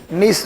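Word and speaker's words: gneiss: इसमें जी साइलेंट होता है, बोल देना है जहां पर पता ना चले बात ना कि क्या सर बोले, वहां बोल दीजिए सर, लिख दीजिए उसको, ग्रेनाइट एंड नीस रॉक।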